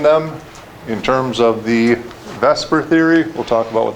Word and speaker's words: VSEPR: thing you're probably wondering is why is VSEPR pronounced Vesper as you try to pronounce it the way